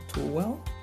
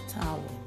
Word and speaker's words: towel: Too well. No, not too well. Towel.